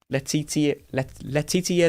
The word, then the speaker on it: Letitia: Letitia Lemon. Letio Lemon? Something like that. Letitia. Oh. Letitia Lemon. That makes a bit of sense. It's kind of like the spelling of militia rather than with a H?